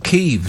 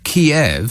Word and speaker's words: Kyiv: If people are calling it Kyiv now, in recognition of how the Ukrainians pronounce their own capital city's name. If you say Kiev, I mean, that just